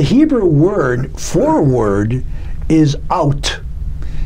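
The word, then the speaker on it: אות: The Hebrew word for word is out. It's spelled Aleph Vav Tav, or in English it'd be A-U-T. Like O-U-T, but A-U-T.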